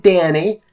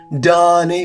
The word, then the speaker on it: Danny: Danny that's his name it's not Donnie or dahani too many people think they need to say his name is some weird exotic way because there's an H in his name but that's not the case it's just Danny like Sammy or whammy whammy or Lambie Lammy just Danny it's